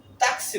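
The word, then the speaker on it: taxi: এখানে উদাহরণটা হচ্ছে তাক তাকসি উচ্চারণটা হবে ট্যাক্সি না হবে হলো তাকসি এরপরে সর্বশেষ যে বর্ণটি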